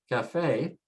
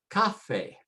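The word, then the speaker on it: café: We should say cafe, cafe, but we don't say cafe, we say cafe, cafe, because they changed the rule and put an accent mark to tell you just follow the bouncing ball and pronounce where the stress mark is, the accent.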